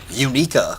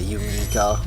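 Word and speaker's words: Uniqua: Unica. Thank you for releasing me. I think you spelled that wrong. I think it's U-N-I-Q-U-A. That's how you spell it, Unica, right?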